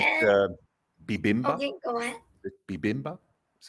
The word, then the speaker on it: bibimbap: I Yeah, like and bibimbap.